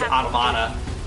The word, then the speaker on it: Automata: Anyways, so apparently there's only like one line of dialogue where they do say automata or automata, and how they pronounce it is automata.